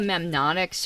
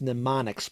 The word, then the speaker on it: mnemonics: found a great one i think it's mnemonics but i could never get a straight out yeah the first m is silent yeah then why is